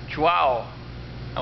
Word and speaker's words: Chuao: bit before 5:00 and I'm over here at chah how was my pronunciation of that perfect perfect this is toas